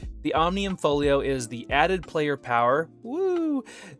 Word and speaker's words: Omnium Folio: The Omnium Folio is the added player power, that unlocks over